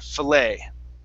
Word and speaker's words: fillet: uh filet okay so filet the tea is silent here fillet okay the t is silent okay fillet there you